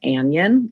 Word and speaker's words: anion: want to pronounce an anion like an onion but that is not what this word is it is cat ion and an ion these are compound words so we pronounce them as separate syllables um metals usually lose